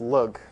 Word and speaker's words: lg: You pronounce this lug for some reason, for the obvious reason.